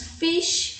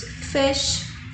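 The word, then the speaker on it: fish: pedindo aí do parado principal fez não falamos fixe falamos feche ok é o peixe que quem que é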